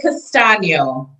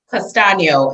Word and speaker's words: Castagno: say it just sounds like i'd say it castano say again castano is the pronunciation castano it's sound almost italian though it is italian